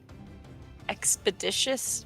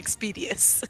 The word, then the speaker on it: expeditious: um then um yeah for my bonus action I can use expeditious Retreat is that how you pronounce it yeah I kept saying expedius laughing at me um expeditious Retreat um